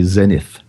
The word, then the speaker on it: Zenith: And you've told me I'm saying it wrong. Yeah, over here we say Zenith.